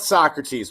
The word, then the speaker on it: Socrates: some of the great less well-known philosophies are so crates or his real name is actually pronounced socrates but if you guys ever watch